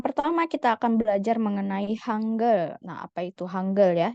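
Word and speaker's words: 한글: aksaranya aksara ya itu disebut hangle jadi bacanya hangle bukan Hangul ya oke hanggle nah untuk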